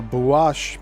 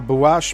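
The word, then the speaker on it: Buache: And another unique document, the Bash map of 1737. and that's spelled B U A C H E contribute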